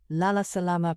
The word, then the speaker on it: Lala Salama: Here's how to say goodnight in Swahili: Lala Salama (pronounced Lah-lah Sah-lah-mah) "Lala Salama" is a warm and friendly way to say goodnight in Swahili.